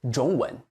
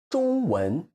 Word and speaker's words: 中文: If you are an English speaker, you tend to say it 中文 because you stress the beginning. You should stress the second syllable 文, 中文.